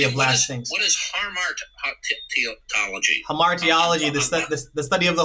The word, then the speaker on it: hamartiology: And by the way, I for some reason, maybe it's my age, I botched the pronunciation of that. It's like hamartiology. Yeah.